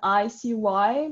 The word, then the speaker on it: Icy: know about it, but IC's name is a play on word, actually. It off means IC, and ICY, like the letter, if you spell it.